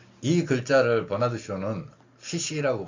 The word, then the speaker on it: ghoti: 어쨌든 이 사람 이야기를 갑자기 꺼낸 이유는 제가 이 글자를 버나드 쇼는 피시라고 발음을 하는 겁니다.